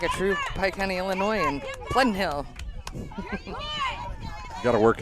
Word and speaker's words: Illinois: a true Pike County Illinois and Flint Hill gotta work it in every now and again exactly you don't really pronounce the s in there no balls two